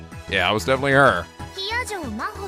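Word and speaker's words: 比屋定真帆: Hiyajo Maho って読むの。私の名前、Hiyajo Maho。漢字でもローマ字でも誰も読めた試しがないから、先に言っとくわ。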